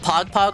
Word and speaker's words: Pagpag: No, it's spelled Pagpag like P-A-G-P-A-G. Don't think of like the Twitch Pog.